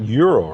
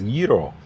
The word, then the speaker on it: gyro: Navigate to the Greek yeero. Youro? No, I was told uh it's yeero. Yeero? Yeero. Any Greek uh speakers? It's not euro, right? It's yeero.